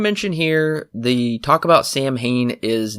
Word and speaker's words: Samhain: If you go back and rewatch Halloween 2, you will notice that Michael wrote Sam Hain, which is not how it's pronounced. It's Samhain, I believe.